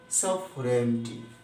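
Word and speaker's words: sovereignty: কিছু কিছু বানান আছে, এই যে REN, REN, এই REN, RE এবং N এই দুইটার মাঝখানে আইজি বসে, যেটার কোনো উচ্চারণ হয় না।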